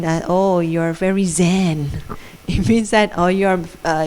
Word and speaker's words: Zen: Zen actually is a Japanese pronunciation for Chan.